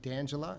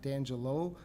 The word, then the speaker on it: D'Angela: also been mentioned incorrectly please address me as counselor d'angela not D'Angelo and I don't even